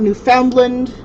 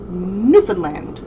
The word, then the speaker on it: Newfoundland: pronounced newfoundland it's not newfoundland it's not newfoundland it's newfoundland understand rubber band that is where my